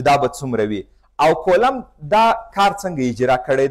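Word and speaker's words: Coulomb: د دې د نامه صحیح تلفظ هم کولم راځي. فرانسوی فیزیک پوه دی، د دې نوم داسې لیکل کیږي. دا نوم دی، دا کولم ویل کیږي، بي نه راځي. خو خیر زموږ تاسې په کتابو کې دا کولمب ذکر سوی، موږ تاسې به په همدې شکل باندې زده کړو. صحیح تلفظ یې راځي کولم.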